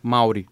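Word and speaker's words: Māori: A verdade é que, tipo assim, ele prolonga a vogal. Só que, como a gente fala rápido, a impressão que dá é que você muda a tônica. Então acaba sendo Maori, o jeito certo de falar.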